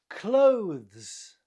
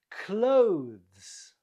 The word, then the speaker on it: clothes: Clothes. Clothes. Not clothes, but clothes.